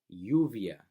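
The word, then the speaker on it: lluvia: lot of words to use double else two L's right next right next to each other so you via you via to else right next to each other you via means rain right so that sounds a lot like ry right you via to say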